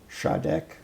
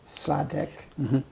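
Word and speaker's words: Sa Đéc: Vietnamese, the tonal content, the difference in pronunciation between the South, Shadek, for example, versus Sure. Sadek, as a northerner might pronounce it.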